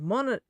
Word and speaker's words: Mononogatari: Spirits, Mono no Katari, that's physical and digital. Yeah, it's a tough one. Mononogatari. Think Princess Mononoke on that first syllable.